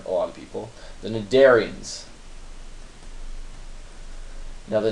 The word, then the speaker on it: cnidarians: lot of people, the cnidarians. Now the cnidarians, again, if you want to sound smart in the party, do not call them cnidarians, because that's wrong. The C is silent because scientists hate you, and they want to